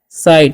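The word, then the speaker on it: cite: Next क्या है? सी आई टी। तो इसे हम लोग पढ़ते हैं साइड।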